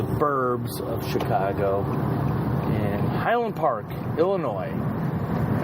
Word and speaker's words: Illinois: of Chicago Highland Park Illinois if I ever hear you pronounce the s in Illinois we might have words okay the same but